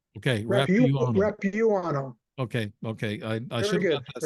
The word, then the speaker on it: Rapuano: It's Rapuano. Is that it? Rapuano. The U is long. Okay, Rapuano.